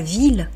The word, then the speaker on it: ville: Alors il y a des exceptions, par exemple la ville, I2LE, et on dit la ville, mais en fait parce